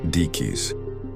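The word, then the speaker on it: Diquís: The Dis culture the creators of the spheres have been firmly identified by archaeologists as the dyke culture pronounced deis.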